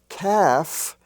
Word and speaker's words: calf: spelled with l f but the l does not pronounce so you have calf a young calf half i have half a dollar half dollar h-a-l-f is pronounced half as if it were spelled h-a-f-f and in the l-k